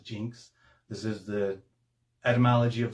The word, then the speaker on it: Iynx: x it is pronounced jinx this is the etymology of the word we use Jinx today so um you can say these are inks or Jinx both are correct this is a a